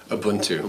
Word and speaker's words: Ubuntu: What I'm getting at is this whole concept of, and I know I'm going to mispronounce it, so you're going to have to help me out. But Ubuntu? Ubuntu.